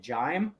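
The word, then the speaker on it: Jaime: Jamie but it was j-a-i-m-e so we always pronounce it jime and it was it was the cause of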